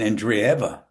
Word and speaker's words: Andreeva: Oh, you mean Andreeva? I'm Andreeva. gonna know as soon as I see. Yeah, yeah, yeah. Andreeva, Mira Yeah, Andreeva. but I think she pronounced it Andreeva. But Andreeva? it doesn't matter.